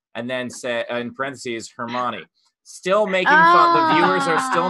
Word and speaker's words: Hermione: of it and so she pronounced hermione as her moon her mom or her mom and uh the fans